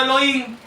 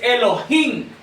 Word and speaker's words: Elohim: Si decimos solo Elohim, no estamos mencionando el nombre de Dios. Es Elohim.